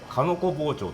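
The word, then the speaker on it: 鹿の子包丁: scales, so I do kanoko-bocho (making lattice cuts) I use the knife to cut diagonally It’s written as “shika-no-ko bocho” but pronounced as “kanoko bocho” The technique is called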